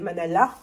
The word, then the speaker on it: manala: je vais refaire des des manala parce que il faut pas prononcer le S j'ai pris deux Batavia